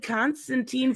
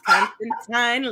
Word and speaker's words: Constantine: I said Constantine first, and I was like, oh my god, I said it wrong. It's Constantine like fine.